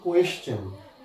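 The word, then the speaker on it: question: আবার দেখো কোয়েশ্চেন, এখানেও টি আছে, আমরা চ বলছি।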